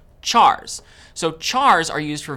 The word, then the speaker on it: char: Chars. So chars are used for variables that will store single characters. Char is short for character. And sometimes you might hear people pronounce it as car.